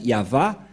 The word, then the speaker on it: Yahvah: dire non c'est pourquoi il est écrit ici yava et son nom c'est Yav son nom et